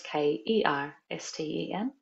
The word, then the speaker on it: Kersten: It's kind of like Laura, so, and Kirsten is Kersten.